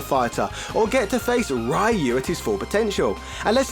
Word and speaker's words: Ryu: is the oh script i'm not saying bloody rot anymore it's bloody difficult nor am i using that stupid american pronunciation reu either i think going forward i'm going to go back to the old way ryu yeah akuma knows he